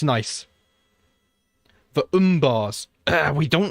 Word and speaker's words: Umber: gonna kill them all umbar is the correct way to say oh okay thank you